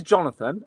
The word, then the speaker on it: Jonathon: It's it is Jonathan. Uh, but my mom thought it was a good idea when I was born to spell it the way it is now.